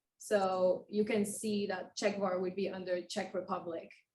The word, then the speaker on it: Czechvar: But Czechvar, it makes sense once you know Czech Republic, Czechvar.